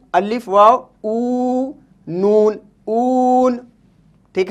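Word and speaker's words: اون: ऊ, अलिफ वाव, ऊ, नून, ऊन।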